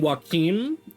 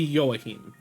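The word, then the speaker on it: Joachim: name I was saying waim last time which is a correct pronunciation of that name but it is the Spanish pronunciation uh welt uses the German pronunciation which would be yahim which I believe somebody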